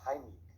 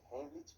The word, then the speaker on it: Heimlich: Esté muy bien, vamos a ver en este video la maniobra de Heimlich, que por cierto, esa es la pronunciación correcta porque está en alemán, la mayoría dice Heimlich, pero bueno, se entiende de qué se trata.